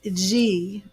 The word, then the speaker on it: Yhi: The goddess G, but it's spelled YHI.